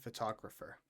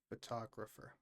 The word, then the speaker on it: photographer: Photographer. As you see the stress is on the to photographer photographer.